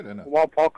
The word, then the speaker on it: Wapak: Mike in Wapak, Ohio. Welcome. Did I pronounce the name of your town correctly? Real close. Yeah, that was close enough. Wapak, Ohio.